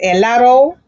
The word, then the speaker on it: helado: You see, it starts with the letter H, but we also learned that the letter H is never pronounced. Therefore, the sound that's after the H is the E, the letter E, and it's pronounced helado rosa.